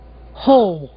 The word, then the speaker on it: whole: Ouçam agora dois casos de palavras bastante usadas onde o W não é pronunciado. Whole.